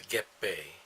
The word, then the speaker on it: 月餅: word not the Japanese word but the Japanese pronounce a get BAE and I don't even know what the Chinese